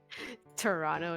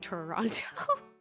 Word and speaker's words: Toronto: Toronto and Toronto. Toronto. Let's go to Toronto. There, I did it. Yeah. Say it like the locals. Yes. Don't say Toronto.